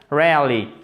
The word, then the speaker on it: rarely: comment on dit ça rarely rarely alors très intéressant là aussi au niveau phonétique donc au niveau prononciation en fait le E ici vous ne l'entendez pas et regardez c'est extrêmement